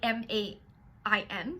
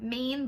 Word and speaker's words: Main: It's spelled like M-A-I-N, so it looks like Maine, but it's like Main, that's German.